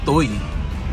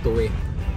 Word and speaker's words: Tuy: n suo Ayan so mapapansin niyo ang spelling nito ay t Uy Ayan pero pag binasa yan ng normal toy pero doun sa yung tamang yung tamang pagbigkas niya ay tuwi dito sa Batangas ang